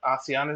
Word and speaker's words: ASEAN: Sometimes people pronounce it as ASEAN, but ASEAN is the correct pronunciation.